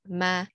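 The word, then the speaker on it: mà: word the next one has a grave mark it's pronounced ma and it means but or nevertheless the next one is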